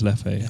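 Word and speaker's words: Leffe: you mentioned it howdy is that how you pronounce l e f f e yeah I think it's Lefty I've always been answered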